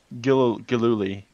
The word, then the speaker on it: Gilluly: Gilluly. Gilluly. Gil-oo-ly.